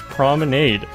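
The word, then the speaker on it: promenade: This is an English word pronounced prominade.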